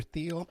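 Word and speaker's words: Thiel: stuff with the Peter theal I don't know if it's Peter Thal or Peter the but I hear people U use both the pronunciations so we got along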